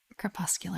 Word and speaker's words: crepuscular: think it's Crest popular is that how it's pronounced yeah crepuscular animal okay so that is for an animal